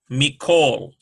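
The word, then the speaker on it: מִכֹּל: Me, kol, mikol. We've got a doubling sound in the kaf, and so that's a dagesh forte.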